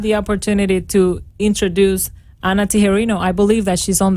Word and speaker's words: Tijerino: Tijerino. Tijerino. Okay, perfect. But you pronounced the correct Spanish version.